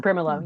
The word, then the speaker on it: Brimelow: I'm not sure if I'm pronouncing Mm-hmm. that name. Brimelow, yeah.